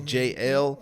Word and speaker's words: Jaelle: It's JL. Okay. And so it's spelled out JAELLE, but a lot of